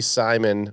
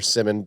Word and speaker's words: Cody Simon: Simeon Barrow junor C+ Cody Simon or Simmon depending on how you say it B minus Danny stutzman